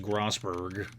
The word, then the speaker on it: Grossberg: just go back grossberg yes I know it's pronounced grossberg I think according to the receptionists the big